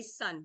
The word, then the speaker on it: Sun: And then what I'm talking with you about today, and we'll do some of this, is Sun style. So you want to say sun, but it's actually pronounced Sun style.